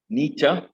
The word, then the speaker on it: Nietzsche: It's pronounced Nietzsche. He's a German philosopher, a very, very renowned 17th century German philosopher, Nietzsche.